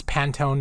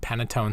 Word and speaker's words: Pantone: It's Pantone, not Panettone.